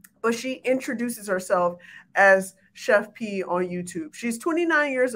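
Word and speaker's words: Chef Pii: and i'm going to say this correctly at chef pie and that's p i i pronounce p so i'm gonna say i thought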